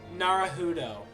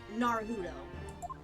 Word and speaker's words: Naruhodo: Is it, how do you pronounce his last name? Naruhodo. Naruhodo.